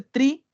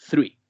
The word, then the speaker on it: three: ¿Por qué no puede ser tree? Porque tree significa árbol. Estaríamos hablando de algo nada que ver con los números. Por eso es que tiene que ser tan correcta esa pronunciación también del 3. Three.